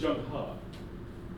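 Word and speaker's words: Zheng He: n g I'm sorry it looks like pronounced like Jen he h e in Chinese WR is ha so it's Jung ha which is bizarre but that's the rule okay so that's what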